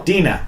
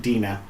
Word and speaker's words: Dena: time I catch live chat take care Oh Dena she actually put it inana in between brackets pronounced Dena Dena okay d e and a oh it's